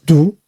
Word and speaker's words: 毒: And you have 2 dots here. And eventually you write them like this, right? That's pronounced as do.